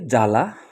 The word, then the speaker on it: জ্বালা: মূলত উচ্চারণের নিয়ম অনুযায়ীতো সেইমভাবে জ্বালা জ্বালা যেখানে বফলা বাম পাশে রয়েছে বানানে কিন্তু উচ্চারণে বফলা নেই।